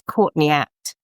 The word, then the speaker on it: Courtney Act: So if you actually say it like you're a it's Courtney Act caught in the act, you see you see it's a great name.